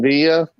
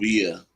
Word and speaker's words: Villa: What's up, David Villa? What's going on? I thought it's David Villa. No, Villa. It's a Villa. Spanish pronunciation. It's Villa.